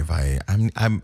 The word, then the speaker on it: Valle: Okay, Valle. I traveled to the Dominican Republic enough that I should know how to pronounce that last name. But 2 L's together sometimes sounds like Y.